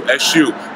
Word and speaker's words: Eshu: You might have even known him as Jesus, because his name is spelled E-S-U, Eshu.